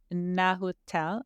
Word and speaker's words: Nahuatl: I forget how to pronounce it. It's Nahuatl, N-A with an accent, Huatl.